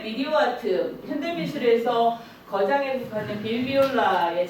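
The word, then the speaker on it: Bill Viola: 그리고 지난주 마지막에 제가 보여드린 건 현대 미디어 아트, 현대미술에서 거장에 속하는 빌비올라의 작품, 빌바이올라라고도 발음하는데요.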